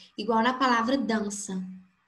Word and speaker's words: dança: Então, se tirar a letra N e deixar só dança com o tio no A, não vai mudar o som da palavra. O som da palavra vai ser o mesmo, dança. Sem N e com tio no A. Então, o fonema é AN.